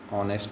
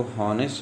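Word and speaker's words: honest: तो यहाँ भले ही एच लिखा हुआ है, भले ही एच लिखा, हम जानते हैं एच कौन सा साउंड है, कॉन्सोनेंट साउंड होगा इसको जब हम बोलेंगे, लेकिन ये हा के प्रोनाउंसिएशन के लिए यूज़ होता है। ठीक है, लेकिन जब हम ये एक सपोज़ आपके पास लिखा हुआ है ये HOENEST, तो हम इसको हॉनेस्ट नहीं पढ़ते, बल्कि क्या पढ़ते हैं, ऑनेस्ट पढ़ते हैं।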